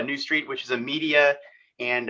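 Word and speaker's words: Neustreet: ceo and founder of new street uh that throws people loop how to spell that so it's n-e-u-s-t-r-e-e-t so new street which is a media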